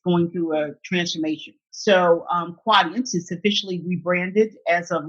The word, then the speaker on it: Quadient: Did I pronounce that right? Yes, Quadient. Yes. Quadient.